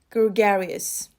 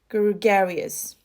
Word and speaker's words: gregarious: yeah it is very common used but the pronunciation is a little bit tricky so let's practice gurugarius gregarious the stress is on here gregarious okay gregarious yeah so somebody who is very